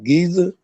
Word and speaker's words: Giza: and the pyramids of Giza, did I say it right? Giza?